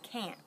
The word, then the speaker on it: can't: kennel all right well can't with a t is really short it's like you chop it off almost and we when we speak English we don't put the T on the end we don't